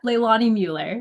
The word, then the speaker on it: Leilani Mueller: Leilani Mueller. Is that right? Yep. Leilani Mueller.